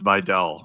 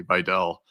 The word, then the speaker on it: Vidal: Uh and it's I I looked it up. It's Videll. I'm gonna do try to do a better job of pronouncing names. I I know it's you know deep in my career here of butchering people's names but you know listening to Al Michaels say it I guess correctly Vell I think at this